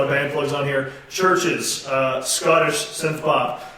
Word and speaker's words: CHVRCHES: band plugs on here, Churches, Scottish synth pop. It's spelled CHVRCHES. It's Churches with a V instead of a U.